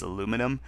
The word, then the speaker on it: aluminium: Uh, I think Americans uh tend to leave out the second I and that's why the American pronunciation is aluminum.